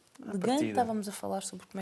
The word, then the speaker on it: Le Guin: Estava a perguntar-te como é que se pronunciava, porque a gente não pronuncia muitas vezes os nossos escritores, mas é Ursula Le Guin. Le Guin, estávamos a falar sobre como é que seria.